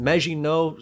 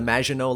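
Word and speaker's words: Maginot: line became his namesake now I know that I pronounced magino somewhat correctly and then in the same sentence I called the wall the majino line but I'm just going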